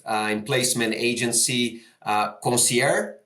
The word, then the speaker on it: Consiére: then also staff uh in placement agency uh concier right they're pronounced correct or yes okay awesome so Heather welcome Thrilled to have you and looking forward to the chat.